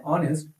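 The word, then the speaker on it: honest: मैंने आपको अभी थोड़ी देर पहले बताया कि इसकी इस वर्ड की स्टार्टिंग भले एच से हो रही है। लेकिन इसका जो उच्चारण है वो क्या है? ऑनेस्ट।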